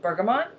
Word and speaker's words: bergamot: This oil I've heard it pronounced so many different ways. So if you don't pronounce it this way, then you might laugh, but that's okay. So I say bergamot.